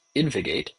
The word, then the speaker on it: InvGate: So everybody I've heard pronounce it says InvGate, as if there's another vowel in there.